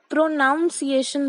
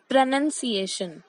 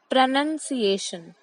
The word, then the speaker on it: pronunciation: So इसको कुछ लोग pronunciation बोलते हैं. बीच में नाउन वर्ड जरूर है बट हमें उस पर इतना एम्फेसिस नहीं देना है. सही तरीका बोलने का है प्रोनाउंसिएशन. I repeat, प्रोनाउंसिएशन.